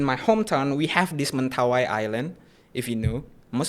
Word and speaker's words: Mentawai: A lot of international competition held in Mentawai Island. Would we say Mentawi?